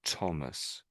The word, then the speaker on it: Thomas: as Thomas Thomas and I know it's th and normally it was every most sort of th's are th and this is one of those occasions when it it just isn't so we pronounce that as Thomas.